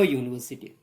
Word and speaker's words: university: They are going to the university. Though it is beginning with you, university, its pronunciation is YOU, and hence it will be the, not N.